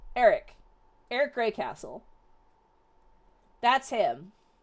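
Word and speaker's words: Aaric: I love So, his name is spelled weird. It's like his name I'll spell it in chat. It's like this. A A R I C. Eric.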